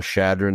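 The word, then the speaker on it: Chadron: Maybe there's some footnotes in here so you can see how Shadron is spelled because it starts C H A.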